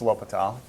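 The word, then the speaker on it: L'Hôpital: the hospital's rule okay it's spelled like hospital but it's Lile all right so I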